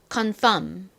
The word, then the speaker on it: confirm: 또 나옵니다 영 이상하죠 자 일단 쉽게 발음하시면 그냥이의 리을 소리를 무시하고 요렇게 미음을 넣어서 발음을 해 주시면 됩니다 confirm confirm 이렇게요 자 발음 따라해 보세요